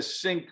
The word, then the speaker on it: Synqy: We help really create a sync between the customer experience and the advertiser experience.